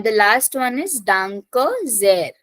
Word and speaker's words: sehr: And the last one is Danke sehr. Starting from S, pronunciation Z. Sehr. Danke sehr.